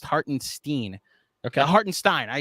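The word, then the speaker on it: Hartenstein: that this happened also according to jaden it's pronounced heart and steen okay heart and stein i even read it wrong hardened stein that's what i thought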